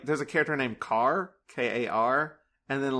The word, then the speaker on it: Kar: Oh, it's the one that ends with, like, there's a character named Kar, K-A-R, and then, like, they teach the crows to say her name.